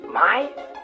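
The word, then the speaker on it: Mai: my face this is mei's parents ow my my sounds like me you're an idiot it's pronounced my don't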